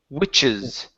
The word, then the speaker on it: witches: Okay, pronounce that CH. Okay, this is witches. Witch's hat. Okay, almost. So when we pronounce this sound, okay, this is the CH sound. when we do this, you have to push the air and then stop the sound.